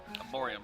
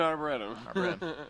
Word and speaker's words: arboretum: Arborium. tree Sorry, growing I'll let place. you. I don't know what the hell you're It's an talking about. arborium. no, it's an arboretum.